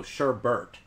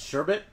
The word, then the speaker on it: sherbet: lemon saying sherbert wrong I go sherbert its sherbet sugar sherbe cuz it spelled SH er Det it's always called it